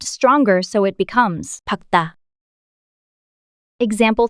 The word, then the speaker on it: 밝다: 밝다, Is an adjective meaning to be bright in English. Of the complex consonants, only 기억, is pronounced.